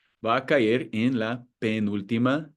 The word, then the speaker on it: penúltima: We know that the stress falls on the U in penúltima and on the I in sílaba because of the accent mark.